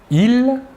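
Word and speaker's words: ils: Tout d'abord, le masculin, « il », la S finale ne se prononce pas.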